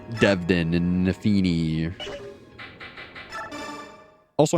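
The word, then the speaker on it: Nephenee: Like, Devdin and Nafini. Also, I'm pretty sure her name is actually pronounced Nefene, but I refuse to pronounce it like that.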